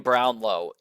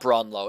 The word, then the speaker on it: Brownlow: I'm mispronouncing the name Brownlow it's probably not bronlo it's probably Brown low I I'm sorry if I annoyed anybody by saying bronlo